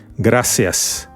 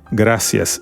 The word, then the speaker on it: gracias: this is like s the letter c is like s gracias gracias it sounds the same as the S it's gracias that means thank you the